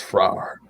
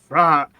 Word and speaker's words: Frar: It's Frar. Frar. Okay. It's So- like you're saying rar. Frar.